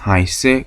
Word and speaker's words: heiße: 발음은 S가 2개 있는 거와 동일하다 그랬죠. 그래서 에하고 이가 붙어 있으니까 I라고 발음이 될 거고, 그럼 하이 다음에 S 2개니까 하이세, ich heiße Klaus.